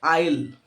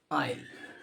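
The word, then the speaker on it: aisle: पहला वर्ड है वो है आइल आयल स्पेलिंग ध्यान रखिएगा ए आई एस एल आइल तो जब आप चर्च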